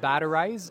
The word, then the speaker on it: Batterize: Yeah, so I'm the CEO of Batterize, and that's spelled like battery, Z-E at the end.